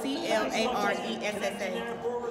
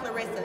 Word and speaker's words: Claressa: Clarissa is spelled C-L-A-R-E-S-S-A. And it's not Clarissa, it's Claressa. That's right.